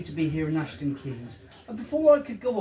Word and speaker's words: Keynes: I know it's spelled Keynes, K-E-Y-N-E-S. But in the village, we prefer to pronounce it Keynes.